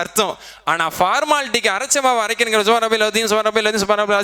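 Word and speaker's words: سبحان ربي العظيم: ஆனால் ஃபார்மாலிட்டிக்கு அரைச்சமாவை அரைக்கிறங்கிற சுப்ஹான ரப்பில் அதீம், சுப்ஹான ரப்பில் அதீம், சுப்ஹான ரப்பில் அஸீம், அது உச்சரிப்பு கூட சரி பண்ணாம சுப்ஹான ரப்பில் அலீம் இப்படி சொல்கிறோம்.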